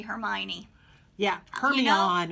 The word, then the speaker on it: Hermione: I had to hear Jim Dale tell me how to say Hermione.